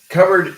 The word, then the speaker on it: cupboard: When we do not pronounce a round sound, we pronounce a flat sound.